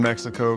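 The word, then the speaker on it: México: In some words like Mexico, it's pronounced like an H because it is from a different language.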